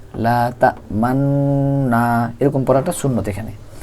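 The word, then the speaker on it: لَا تَأْمَنَّا: পারি পড়াটা এরকম কিন্তু এখানে একটু এই নুনের মধ্যে ঠোটগোল করে পড়তে হবে লাতামান এরকম পড়াটা সুন্নত এখানে লাতামান শুধুমাত্র এক জায়গায় সূরা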